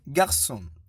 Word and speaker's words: garçon: La cédille indique que le C se prononce S et non K. Exemple, français, garçon.